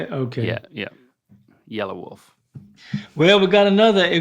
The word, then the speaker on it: Yelawolf: Yelawolf.